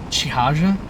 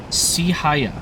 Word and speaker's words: Sihaya: Is it, Chihaja? Can you, like, do a pronunciation of your name? Because I appreciate your facts, because I was gonna bring it up. Sihaya, okay. Sihaya here is correct.